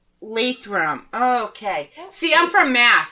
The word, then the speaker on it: Lathrop: all good how do you all right it's Lathrop lathrum okay see I'm from Mass so it would be pronounce different yeah I get that I get